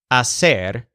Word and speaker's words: hacer: her restaurant hacer now the infinitive a said means to do or to make the stressed syllable sounds like said although of course it has a completely different meaning hacer is a make-your-own meal